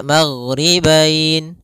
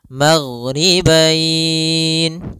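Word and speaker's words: الْمَغْرِبَيْنِ: Maka kita boleh membacanya maghribain 2 harokat, maghribain 4 harokat, maghribain 6 harokat.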